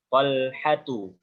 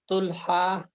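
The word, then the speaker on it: طلحة: Talhatu. Nah, itu diingat-ingat ya. Nanti kalau ketemu kalimat ini jangan salah lagi. Nanti jangan ada bacanya asama, ada bacanya tulha, ada bacanya jangan seperti itu ya.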